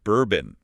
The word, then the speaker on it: Burbn: Bourbon, like the drink. Yeah, but spelled without the vowels.